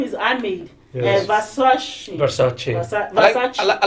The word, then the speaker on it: Ahmed: Ahmed, no, it's Amid. Amid.